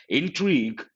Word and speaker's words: intrigue: Intrigue, you got to be careful with pronunciation. Intrigue, part of speech verb.